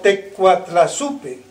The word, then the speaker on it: Te Coatlaxopeuh: En náhuatl, tecuatlaxope tiene un sonido semejante, casi se pronuncia como tecuatlazupe.